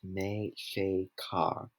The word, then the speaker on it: Mexica: and south to panama mexico comes from mexico pronounced mei shea car which was the aztecs name for themselves aztec is the spaniard's